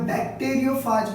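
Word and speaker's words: bacteriophage: Virus का नाम है बैक्टीरियोफाज वायरस। उसका नाम क्या है? बैक्टीरियोफाज virus. बैक्टीरियोफाज virus. कुछ लोग बैक्टीरियोफेज भी बोलते हैं, इट इज अप टू यू हाउ डू you pronounce, ठीक है।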